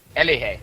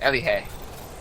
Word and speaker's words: Elige: Elige. That's how you pronounce it. Elige.